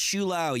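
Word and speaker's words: Shou-Lao: Pronounced Shulao, yes.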